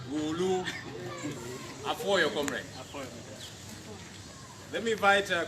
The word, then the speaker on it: Gulu: What some of you call Gulu. The right pronunciation, I'm told, is Gulu.